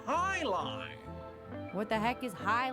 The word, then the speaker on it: jai alai: pronounced highline.